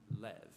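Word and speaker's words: לב: pronounced or more often in a shorter form Lev now different cultures throughout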